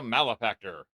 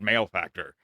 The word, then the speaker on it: Malefactor: And that is pronounced malifactor, not male factor. If you don't know what the word is, go look it up. Malifactor. Malifactor, not male factor. It's not a testosterone show.